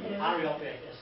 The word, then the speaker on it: Areopagus: Areopagus, yes. When I get my new teeth next year, I'll be alright. Can I have your old ones? They took a broader meeting with Areopagus where they said to him, may we know